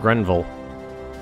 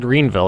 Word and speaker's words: Grenville: Maybe we should push him out of Grenville. Grenville? Is that I'm pronouncing green? I almost said Greenville. That's not right.